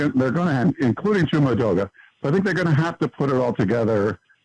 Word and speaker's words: Edoga: lineman that stood out to me was Chuma Edoga. Is that how you say his name? Edoga, yeah.